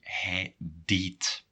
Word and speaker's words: hij deed: And how do you pronounce it? And that's a little tricky. Hij deed.